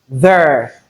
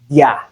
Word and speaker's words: their: So I'm just laying emphasis on the fact that this particular word THEIR, there, is pronounced the same way we pronounce THERE, there. So don't say dia. It's not dia, but there.